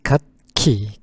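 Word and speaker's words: 楽器: instr 아기가 여러 가지니까 복수를 하는게 좋겠습니다 그래서 발음은 갓키 갓키 이게 악기라는 거 그다음에 오락을 한번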